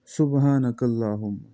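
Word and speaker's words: سبحانك اللهم: او بل دلته دا سین دی او دا خلک چې وایي سبحانه، نو دا خو د سواد اواز بیا راځي، تلفظ ته غور کوئ.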